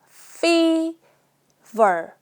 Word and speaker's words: fever: a fever a fever 발음할 때 f 발음할 때요 입술을 꼭 붙이지 마시고요. fe ver 둘 다 f 발음도 윈니를 아른 입술을 살짝 얹어 보세요. 그다음에 v 발음도 윈니를 아른 입술에 살짝 얹어 보세요. 그래서 fever 둘 다 입술이 안 붙어요.